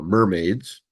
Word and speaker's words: MRMD: a series of uh mermaids mermaid stand is uh how you pronounce mrmd which is model risk